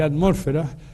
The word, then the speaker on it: atmósfera: Por cierto que se dice atmósfera, pero no se dice heterosfera y ionosfera, es una cosa interesante lo de los acentos en castellano o español.